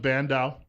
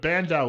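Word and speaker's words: Bandow: this are you familiar with the name Doug bandau let me spell it for you well you could probably get the first name right but bandao is spelled b-a-n-d-o-w he worked for Ronald Reagan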